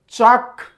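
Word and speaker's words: chalk: sunlight एटू जी हूँ silent रोचे eighty जी silent रोचे चक चक आम चल्क कहते नहीं पे एल एल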